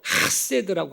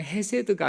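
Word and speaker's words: חסד: 히브리어로 하세드라고 합니다. 그냥 헤세드가 아니고 정확한 발음을 흉내내자면 하세드라고 이렇게 표현하는 이 헤세드라는 이 단어를 사용합니다.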